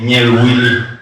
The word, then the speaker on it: Niel Willy: Voilà, et son nom tagbanan, c'est Niel Willy. Niel Willy. Niel Willy, ce qui veut dire regarde à Dieu. Il faut prononcer doucement, quoi.